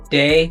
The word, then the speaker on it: Dei: But what's funny about her kids is like day, which is spelled dei.